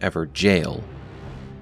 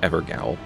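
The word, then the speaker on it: Evergaol: actually found within an ever jail notice how I'm putting emphasis on jail as many in the community left comments calling us out on our mispronunciation of ever jail as ever gwl we've learned our lesson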